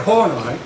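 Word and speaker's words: Horney: joke I don't think it is anyway Karen horai uh is a remarkable person in the history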